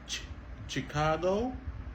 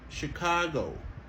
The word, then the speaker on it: Chicago: toujours sont OK donc au lieu nous dit chicado ça son exception à la prononciation de ch en anglais et bien il prononcé comme OK Chicago Chicago alors si n